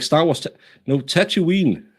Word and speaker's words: Tatooine: like Star Wars no Tatooine is Tatooine I say tattoo is it because I say the second o as a u yeah you say it